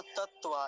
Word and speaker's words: तत्वा: देखिए, ओम तत्वा तत्वा तत्वा, दो तकार है ना, तत्वा ऐसे बोलेंगे।